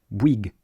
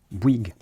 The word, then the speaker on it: Bouygues: then you add a g at the end wig wig.